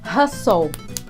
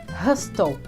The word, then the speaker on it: hustle: Hustle, que significa correr, apressar. Não diga hustle. Hustle.